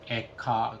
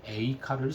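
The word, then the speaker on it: איכה: 고대 히브리어에서는 여기 가운데 들어가 있는 자음인 요드라고 하는 쉼표 비슷하게 생긴 글자가 있는데요. 이것을 무금 처리했습니다. 그래서 에카 그렇게 읽었고요. 현대 히브리어에 와서 그 요를 Y 발음으로 발음하게 되죠. 그래서 에이카 이렇게 하게 됩니다.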